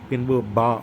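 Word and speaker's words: ب: அலிப் பின்பு பா என்று கூறும் பொழுது கனமாக உச்சரிக்க வேண்டும். இரண்டு உதடுகள் அழுத்தமாக ஒட்டி வைத்து கனமாக பா என்று கூற வேண்டும்.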